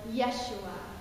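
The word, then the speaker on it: ישוע: And the way it's pronounced in the Hebrew dialect of the day was Yeshua. Yeshua saves.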